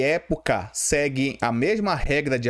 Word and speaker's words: época: Já a palavra época eu tenho o quê? Proparoxítona, porque é assim, ó, tenho três sílabas, sendo que a forte está aqui, ó, na antipenúltima.